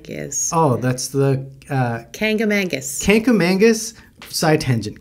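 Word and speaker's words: Kancamagus: what the can is oh that's the uh kangamangus Canam Mangus side tangent Canam Mangus is what the locals say but if you actually read it it's supposed to be pronounced kka Magus oh I didn't know that there's no n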